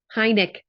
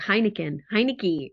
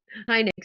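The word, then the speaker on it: Heinecke: Jason, how do you pronounce Stu's last name? I always say it wrong. Heineck. I always want to say like Heineke, or yeah. Heineck, Stu Heineck.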